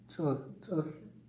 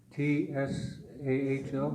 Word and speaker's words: Tsahl: T-S-A-H-L. No, but how do you pronounce? Tsahl. Su. Put your tongue up here. Su. Tsa. Su. It's like you're spitting. No, it's like the U in Sun. Not ah.